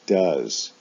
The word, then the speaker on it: does: an o sound go for the S form they both have OES as they're ending but do is pronounced does go is pronounced goes